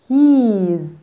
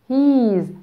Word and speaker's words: he's: is هتكون he's he's ولو حد فيكم نسي بننطقها ازاي على طول نفتكر الجبنه جبنه يعني ايه بالانجلش جبنه يعني cheese cheese ودي بتتنطق ازاي he's he's على نفس الوزن بالظبط يبقى he's a boy